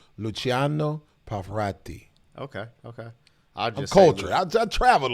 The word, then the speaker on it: Luciano Pavarotti: I think you actually pronounce it Luciano Pavarotti.